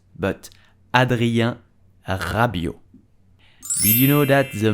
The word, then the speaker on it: Rabiot: the end of rabio is silence do not pronounce rabbit but adria rabio did you know that the mom of adrian